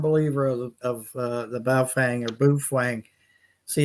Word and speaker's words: Baofeng: Paz McQuarrie, I'm becoming a firm believer of the Baofeng or Bufang. See, it's I think it's actually said Bufang, but it's spelled Baofeng. Someone said it was pronounced Bufang.